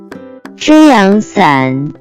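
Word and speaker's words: 遮阳伞: First vocabulary that we have is beach umbrella, which in Chinese can be pronounced as 遮阳伞，遮阳伞，遮阳伞。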